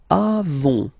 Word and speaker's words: avons: Then nous avons. Final S not pronounced. Avons. Okay?